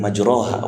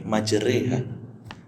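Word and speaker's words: مجريها: Makanya bacanya nggak Bismillahirrahmanirrahim majroha wa mursah, tapi majreha.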